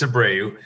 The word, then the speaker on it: Abreu: so abreu uh everybody asks me how do you say your last name it's a brave uh so you know